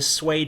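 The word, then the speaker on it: Sui: to see the Han Dynasty replaced by the sway Dynasty Su UI now they only lasted for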